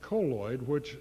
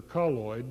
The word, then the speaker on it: colloid: And we recommend colloid, or colloid, depending on how you pronounce it. The preferred pronunciation is colloid, although most people call it colloid.